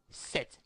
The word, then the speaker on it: cette: You will need to use set, C-E-T-T-E, set.